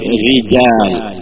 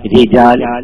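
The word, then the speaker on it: رجال: സാധിക്കും ഒന്നുകൂടി കൂട്ടത്തിൽ ഉണർത്തുക അപ്പൊ റിജാൽ റിജാൽ ഫിർഔൻ ഫിർഔൻ അങ്ങനെയാണ് ശബ്ദം ഉണ്ടാവേണ്ടത് അല്ലാതെ റിജാൽ റിജാൽ നാവ് കൊണ്ട് നീട്ടിയിട്ട് റിജാൽ ഈ അവസ്ഥയല്ല നാവിന്റെ തല നേരെ നീട്ടിയിട്ട് തന്നെ ആയിരിക്കണം തർക്കീഖ് ആക്കുമ്പോഴും ഉച്ചരിക്കേണ്ടത് എന്ന് പറയാം അപ്പൊ അത് മനസ്സിലായിട്ടുണ്ടാവും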